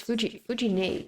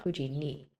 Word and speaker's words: 藤姉: Yeah, I gotta remember it's Fujine, technically. Fujine, not Fujini.